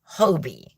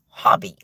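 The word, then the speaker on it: Hobbii: How hobby is supposed to be pronounced as in Hobby Lobby or I have a hobby.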